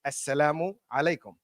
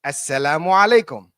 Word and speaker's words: Assalamu alaikum: So we say when in Arabic or Muslims greet themselves or when we greet each other, we say Assalamu alaikum, right? So Assalamu alaikum. Now connected. Assalamu alaikum.